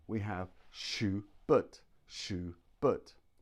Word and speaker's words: Schubert: We have Schubert, Schubert. Now look at the second syllable, B-E-R-T, but, Schubert. This is what we call a schwa.